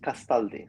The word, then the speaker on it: Castaldi: Castaldi that's I mean Italian in that sense is quite easy as you as you see it's that's how you pronounce it. Yes. Yes. Castali.